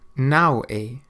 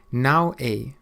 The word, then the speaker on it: não é: Não é. Não é. It means it isn't. Não é.